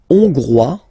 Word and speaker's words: Hongrois: La Hongrie, Hongrois, Hongroise. Okay? Hongrois, Grois, Hongroise. Okay, so here, final S not pronounced for the masculine form, and then you pronounce it here for the feminine form.